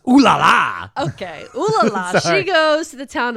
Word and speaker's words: Olalla: That's pronounced Olalla. Okay, Olalla. She goes to the town of Olalla, and she decides that in this town, she dreams of building a sanitarium there one day.